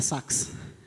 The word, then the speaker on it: Sachs: And my question, I think, is to Jeff Sachs, or rather Sachs. Is that how you say it?